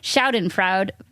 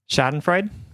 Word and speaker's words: Schadenfreude: Schadenfreude. Is that how you say it? Schadenfreude?